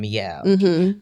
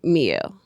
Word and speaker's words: Mielle: it says my L.